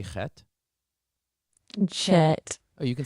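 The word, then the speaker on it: חֵית: Can you say chet?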